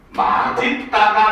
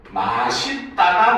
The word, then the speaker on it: 맛있다: 자, 이 단어의 발음은 맛있다가 맞을까? 맛있다가 맞을까? 자, 여러분들의 생각은, 여러분들의 선택은 뭐겠습니까? 1번 맛있다, 2번 맛있다. 어떤 게 여러분들 올바른 발음이라고 생각을 합니까? 몇 번? 2번? 또 다른 학생들은? 다른 학생들은? 왜 생각들이 없어요? 한번 생각을 해보세요. 알겠죠? 자, 일단 결론적으로 얘기하면은 둘 다 맞는 발음이긴 합니다.